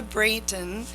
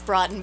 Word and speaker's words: Broughton: I'm going to introduce Brayton. Is that right? It's Broughton, but you've always mispronounced it.